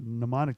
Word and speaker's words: mnemonic: was, okay, you know what a mnemonic device is? Yeah. So if anybody doesn't know what a mnemonic device is, first of all, it begins with an M.